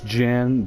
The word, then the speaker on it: Djinn: The Oasis Djinn, don't be thrown off by the D. The D is silent.